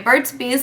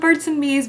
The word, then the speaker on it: Burt's Bees: Then my Burt's Bees lip balm. I finally learned how to say this right because you guys were like, no, it's not Burt's and Bees, but I don't even